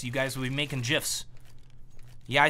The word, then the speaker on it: GIF: Choose the internet users choose GIF. I'm aware that the proper English way to say the word is GIF. However, the creator of it has said it should be pronounced GIF.